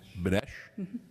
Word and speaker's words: Benesh: How do you say the name of the company? Benesh? Benesh? Yes.